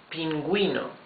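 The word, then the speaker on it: pingüino: boy but for Gris there is the example Pinguino penguin yes eaten gu e no Pinguino Pinguino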